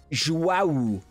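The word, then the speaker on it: João: There's a U sound at the end of Joao's name, so it's like Joao. Joao.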